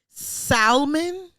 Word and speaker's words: salmon: Salmon. Is that what he said? You pronounce the L in salmon around me one more time, and I'm gonna fuck you up.